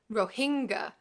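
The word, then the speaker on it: Rohingya: hinga kitchen in parentheses these last pronounce with the accent on the second syllable it seemed to him ro hanga kichan Carentan we get several more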